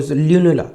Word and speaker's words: lunula: in this image also Lula okay sorry lunula sorry I'm sorry pronunciation lunula okay this is a